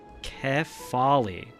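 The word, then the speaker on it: Kephale: Keppel is pronounced Kefali.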